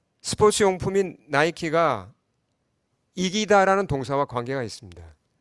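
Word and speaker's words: Νίκη: 하면 이제 명사가 되면 니케가 됩니다. 니케. 니케는 영어로 빅토리죠. 빅토리. 어, 그리스 신화에 나오는 그 승리의 여신의 이름이 헬라어로 이제 발음을 하면 니케이고 영어 발음으로 하면 뭐죠?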